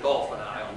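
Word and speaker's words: Dauphin Island: of years ago I was down on on Dolphin Island Dolphin Island but they pronounce it Dolphin Island down there but anyway it's in Alabama and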